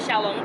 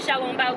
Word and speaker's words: xiaolongbao: China marketplace, they have xiaolongbao. I can actually pronounce these. Yay, for growing up in Taiwan. They have xiaolongbao, which is a pork soup dumpling with black vinegar and ginger.